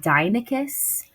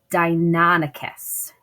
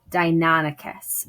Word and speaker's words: Deinonychus: We were saying Deinonychus. It's actually Deinonychus. Deinonychus.